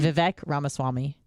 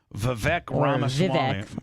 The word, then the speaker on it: Vivek Ramaswamy: Vivek Ramaswamy. Vivek Ramaswamy.